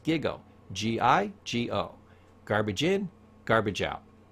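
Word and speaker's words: GIGO: going to teach a computer term it's called giggo It's pronounced giggo g-i-g-o garbage in garbage out data in is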